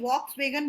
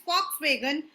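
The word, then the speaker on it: Volkswagen: आज अगर आपके घर के बाहर या आप कभी भी बोलते हो फॉक्सवैगन, हम लोग उसको VOLK वॉक्सवैगन बोलते हैं, लेकिन वो है फॉक्सवैगन. The pronunciation is फॉक्सवैगन.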